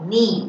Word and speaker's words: knee: 好，最后一个呢叫做 knee，有发现我的哪一个字不念吗？